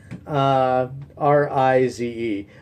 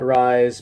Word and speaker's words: Rize: tea growing region called, I believe the pronunciation is Rize, R-I-Z-E. I used to call it Rise, but I think someone corrected me on that. But my Occidental mind usually will go with the phonetic pronunciation, but I believe it's Rize.